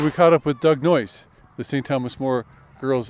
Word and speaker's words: Noyes: and in it it's noise rhymes with choice so the it's pronounced noise but most people just